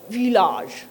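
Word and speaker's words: village: ভিলেজ মানে গ্রাম, ঠিক আছে, সেটা ফ্রেঞ্চে বলে ভিলাজ। তো এই দেখো শেষে যে জটা বলছি সেটা একটা আলাদা জ, এই যে উচ্চারণের মধ্যে একটা তফাৎ, এইটা অনেকে বুঝতে পারে না।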